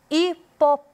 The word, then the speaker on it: hipopótamo: eu destaco ao pronunciar hipopótamo hipopótamo é onde tem a sílaba com maior ênfase e aquela sílaba mais sonora no também a gente